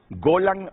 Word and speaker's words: Golan: ataque nos quedamos con la altura de del golan Eso es correcto Entonces se pronuncia golan golan golan golan Ah golan